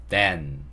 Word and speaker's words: then: then 해주시면 되고요. 굳이 조금 원어민에 가깝게 하려면 윗니 아랫니로 혀를 약간 물었다가 이 소리를 내시면 돼요. then 이렇게 해주시면 정확한 TH 소리가 됩니다.